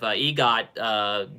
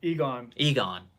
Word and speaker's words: Egon: And then you get to see also the spirit of EGOT doing the thing with him as well. I'm probably saying his name wrong. Did I say his name wrong? It's Egon.